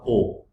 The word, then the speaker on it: aux: Now please notice that this x is not spoken. The pronunciation of this o and the o in this slide, this o will remain same, only there is a change in spelling. O U X, इसको ऑक्स मत बोलना.